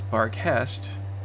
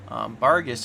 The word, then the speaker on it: Barghest: Barghist actually can also be pronounced as Barghest, meaning house ghost in German. Barghist is actually the English pronunciation, and there's actually a whole bunch of different types of black dogs.